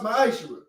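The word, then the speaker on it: מעשר: Means 10th in Hebrew, and it's pronounced ma'ashra.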